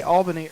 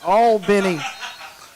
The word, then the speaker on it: Albany: I heard you say Albany earlier. You know, here in South Georgia, it's Albany, Brett. Albany. Albany. Okay. We're not a capital out of New York.